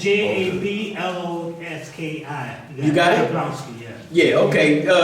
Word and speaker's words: Jablonski: No, Jablonski. J-A-B-L-O-N-S-K-I. Yeah. Yes, Spell it for him again, Abdul.